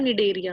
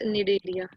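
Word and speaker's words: Cnidaria: ठीक है, इट्स निडेरिया। Like यहाँ पे जो सी है वो साइलेंट है, जैसे टेरिडोफाइट्स में सी साइलेंट था ना, यहाँ पे सी साइलेंट है, तो हम इसको बोलते हैं निडेरिया।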